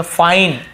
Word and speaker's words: fine: तो हम इसे क्या पढ़ेंगे बताइए, आई के बाद एक लेटर छोड़ के ई है, तो एक लेटर छोड़ के ई है, तो आई को आई ही पढ़ना, तो हम इसे फिने नहीं पढ़ेंगे, इसे फाइन, आई, फाइन, तो हम इसे आई को आई ही पढ़ेंगे।